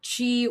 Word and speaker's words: chi: inner meditation, channeling his chi or his ki. Some people say that way. I think that's actually the proper way to say chi is ki, to do a lot of stuff.